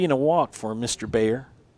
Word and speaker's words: Bayer: a walk for Mr Bayer Mr bear I believe they call refer to it B A ye R but pronounced more like